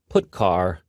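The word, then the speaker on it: putchar: these three are the most popular they are pronounced printf putcar and puts each function is designed to send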